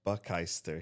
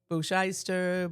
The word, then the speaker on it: Buckister: Do people usually get your last name pronunciation wrong? Yes. What do they usually say? Bushister. Boomeister. Bookmeister.